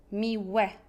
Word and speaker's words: miłe: Et faites attention avec la prononciation. C'est E, miłe, trudne, ładne. Un peu comme E grave en français.